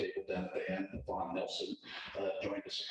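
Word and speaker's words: Pawan: Vaughn. P-A-W-A-N. That's how it's, got that right? That's how it's spelled. Yeah, that's how it's spelled, but it's pronounced Vaughn.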